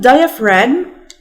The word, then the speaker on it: diaphragm: وكلمة diaphragm الPH اللي فيها بتتنطق ف زي كلمة esophagus من الحلقة اللي فاتت لو فاكرين. diaphragm.